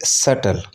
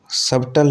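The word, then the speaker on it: subtle: इसी तरीके से सटल, सबटल नहीं होता, सटल।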